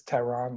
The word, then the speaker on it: Tehran: across the board i-a-m-t-e-h-r-a-n my name is tehran like the capital of iran um so if you